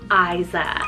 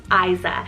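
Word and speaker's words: Ayza: So first off the bat, we have the name Isa, spelled A-Y-Z-A, Isa.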